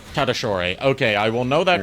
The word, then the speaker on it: Tatasciore: I know because of JKR. Okay. Because he apparently asked him how to say his last name. Tadashore.